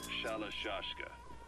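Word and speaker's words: Shalashaska: By the time I got to hearing about it, pronunciation had wound up as Shalashashka.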